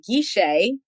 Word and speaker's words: Guichet: It's Gisha.